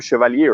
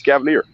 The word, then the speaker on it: Cavalier: i mean i have we have people in in in switzerland mispronounced the name for the past years and they've been smoking the brand for the past years and they still mispronounced the name they are chevalier or something i don't know it's cavalier so yeah it's i